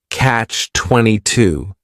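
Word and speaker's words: Catch-22: The word catch is just one syllable and then 22 is three syllables and the stress is on that final syllable. Catch 22.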